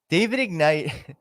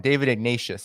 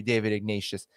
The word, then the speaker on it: David Ignatius: But I wanted to show you David Ignite. So I don't know if you know Dave. I'm saying his name wrong. David Ignatius, I think his name is.